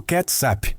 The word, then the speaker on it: kecap: O termo malaio para o molho era kicap ou kecap, pronunciado ketsap, o qual evoluiu para o inglês ketchup.